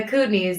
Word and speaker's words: Kootenays: is that how you say it yeah the Kootenays in a small town okay and so um